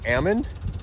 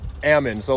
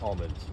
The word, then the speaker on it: almond: something every day like Ammon so like if if you're in the know you know to call them Ammons not almonds right so anyway this